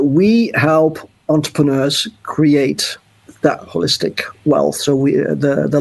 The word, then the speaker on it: Wholistic: company and holistic starting with a W like hole hole so do you pronounce it holistic yes we do the whole because it's you know we're looking at the whole picture not just part of it and also holistic with